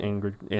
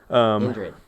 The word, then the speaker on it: Indrid: Ingrid. How do you say his name? Ingrid Cole. Ingrid. Ingrid. Ingrid. Okay, but yeah. Indrid.